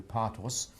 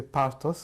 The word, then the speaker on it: Partos: I'm conducting an interview with the survivor, Partos, in the city of Sydney, in the state of New South Wales and the Commonwealth of Australia.